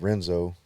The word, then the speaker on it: Renzo: But my gym, that Renzo Gracie in Clarksville, spelled Renzo with an R. It's just pronounced Portuguese. The R is like an H.